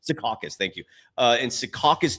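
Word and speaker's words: Secaucus: been leaked um from the NBA headquarters in sakis is that you pronounce it s sakas sakas thank you uh in sakas New York it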